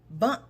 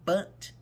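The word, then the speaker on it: Bundt: to do a cake a lemon bun cake is that how you pronounce it bunt cake that's what we doing and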